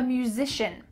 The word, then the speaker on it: musician: I'm a musician. This word is kind of tricky. Musician. Musician. Musish. Zish.